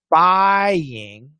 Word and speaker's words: buying: And when you have buying, it's the same thing. Obviously, the word has the Y, but we pronounce it too. Buying, it's long I and then an ing.